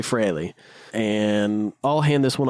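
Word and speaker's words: Frehley: I say it wrong. I will say it all the time. It is actually Freley.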